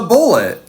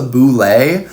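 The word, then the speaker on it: Bulette: have you been drawing we've been drawing the bullet the what the bullet and before the commenters get all into the comments and be like you mispronounced it it's actually pronounced the Boule uh but it's a dumb name and it's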